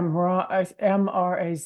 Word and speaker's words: Mraz: And Abby and I lately we've been listening to a Jason Mars song. It's is it called Jason Mars? Yeah, Mraz is how you Yeah, and spell it's his called last You Be name.